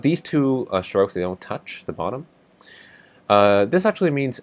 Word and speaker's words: 土: If the top line is longer than the bottom line, this is pronounced si. And if it's the opposite, the bottom line is longer, that's tou.